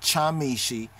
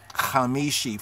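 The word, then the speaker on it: חמישי: like yom hamishi hamishi they have a ch there's not chamishi is ha ha ha more better would be like kh mobetta would be like the kh khamishi for the letter then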